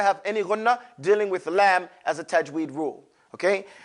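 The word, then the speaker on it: لام: Lam is pronounced from using the edge of the tongue.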